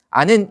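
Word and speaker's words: 않은: 아는 이렇게 발음이 되는 거고요.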